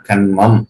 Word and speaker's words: கன்மம்: என்பது என்னவென்றால் திரும்பவும் சொல்லுகிறேன் கர்மம் என்ற சொல்தான் கன்மம் என்று இருக்கிறது இரண்டு சுழி என்னன்னா கன்மம் என்று அதற்கு அதை உச்சரிக்க வேண்டும் அந்த கன்மம் என்ன செய்யும்